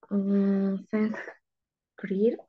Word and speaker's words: s'inscrire: Inscrire, Ah, s'inscrire, s'inscrire, s'inscrire, inscrire, s'inscrire. inscrire, I-N para nosotros va a ser A-N. Entonces sería inscrire, así, s'inscrire.